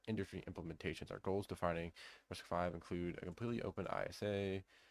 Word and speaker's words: RISC-V: Risk 5, pronounced Risk 5, is an instruction set